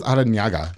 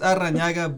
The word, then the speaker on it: Arranaga: I was Arranaga. Okay. Basically north side of Waco. I thought it was Arranaga. They corrected me. It's Arranaga, but okay. In the U.S. we don't have the enya, so it's you gotta I have the enya.